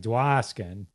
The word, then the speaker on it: Dwoskin: My name's difficult too because it's Dwoskin, but it's pronounced. Like, so it's like Dwoskin, but it's an O, not an A.